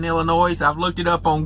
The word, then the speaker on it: Illinois: Those tolls were all in Illinois, and yes, I pronounced the S in Illinois.